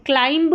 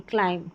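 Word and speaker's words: climb: लैं लैं बॉम्ब नहीं बॉम्ब यह क्लाइंब नहीं। क्लाइम क्लाइम तो सभी में बी साइलेंट है।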